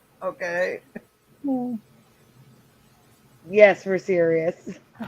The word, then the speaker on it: Sirius: van keen says serious and that's how you could say it it sounds uh serious and cyrus okay we're just hitting right i mean osiris i meant cirrus okay yes we're serious karen maloney says